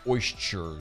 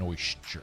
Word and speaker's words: oyster: now are we talking about what kind of oysters well okay i mean and by the way you said sure there's no shirt in oyster it's oyster oyster i don't like that i